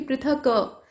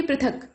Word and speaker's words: पृथक: क का उच्चारण ना लघु स्वर में किया जाता है, खींच कर आप उच्चारण ऐसे नहीं करेंगे कि पृथक क, आप कहेंगे पृथक, मतलब क को जल्दी से बोल देंगे।